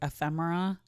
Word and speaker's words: ephemera: There was one word in Other Desert Cities, ephemera, but it's spelled similar to euphoria. So it's like ephemera.